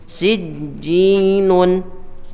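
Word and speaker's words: سجين: Sijjinun dibaca sijjin, ya. Jadi ini termasuk dari pelajaran mad arid lis sukun. Nanti ketika kita belajar ilmu tajwid, pada intinya adalah sijjinun, jinnya tidak dipanjangkan 6 harokat, melainkan hanya 2 harokat saja.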